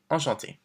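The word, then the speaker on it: enchantée: And don't forget, if you're a woman, we add the extra E, but it's the same pronunciation. Enchanté.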